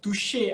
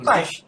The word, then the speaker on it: Touche: Sebabnya macam sampai ada orang cakap macam Touche, by the way the product name is Touche, is from France name. Dia bukan Tash, walaupun dia macam ejaan dia macam orang kata apa, Tash.